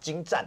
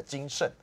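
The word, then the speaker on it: 精湛: 然后他还有一次是把精湛，大家知道那个湛那个很精湛那个精湛是 3 点水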